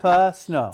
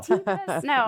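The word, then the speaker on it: Teepa Snow: It's t e p a s n o w ta snow ta snow but she is amazing.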